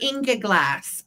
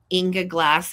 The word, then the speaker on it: Ingeglas: these are Inga glass from Germany.